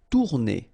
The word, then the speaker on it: tourner: Tourner. Same thing here if you listen carefully. Tourner. R is not that strong.